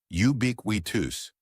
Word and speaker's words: ubiquitous: let's Master it together first things first pronunciation it looks tricky but we'll break it down UB bewi notice how the stress is on Bick let's say it together you wus perfect one more time